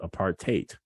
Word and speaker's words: apartheid: thing called apartheid um some africans call it apartheid to rhyme with hate and so margaret court